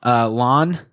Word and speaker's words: La'an: But like that entire scene with the mind meld was so brutal, and the like Spock and La'ana. Oh god, La'an. It almost rhymes with con. It's like con.